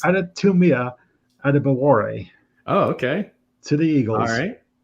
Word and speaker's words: Adetomiwa Adebawore: bit of hype lately, and I'm going to pronounce his name correctly for the first time. It's Adetomiwa Adebawore.